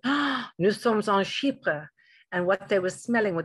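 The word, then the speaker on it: chypre: familiar with is a category called sheepa and take a look at the way it's spelt it's spelled c-h-y-p-r-e-s which is based on the island of cyprus and i actually went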